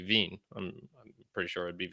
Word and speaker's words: Wien: Now, they might have trouble if she went to Austria, for example, or something, because they don't call it Vienna there. It'd be Wien. I'm pretty sure it'd be Wien, and that's one of